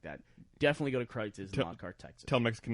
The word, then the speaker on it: Kreuz: If you want quality, But if you go compare to meat, Kreitz's.